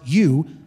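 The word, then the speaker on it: εὖ: epsilon epsilon epsilon epsilon in Greek pronounced u is the adjective meaning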